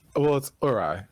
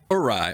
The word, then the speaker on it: Uri: Am I saying it correctly, Uri? Yeah, it's Uri. Uri.